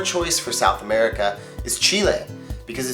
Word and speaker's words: Chile: Just remember it's pronounced "Chile," not "Chili."